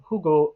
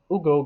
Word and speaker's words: Hugo: relation to profundity and Hugo interprets I'm sorry for pron pronouncing the H by the way I'm I'm I know that it's not meant to be there but Ugo goes into profundity in